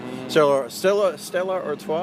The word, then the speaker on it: Stella Artois: Stella Artois, I think is how it's pronounced.